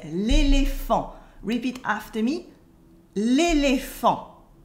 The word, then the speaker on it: l'éléphant: We say l'éléphant. Repeat after me, l'éléphant. The T is silent and P and H in French make the sound F.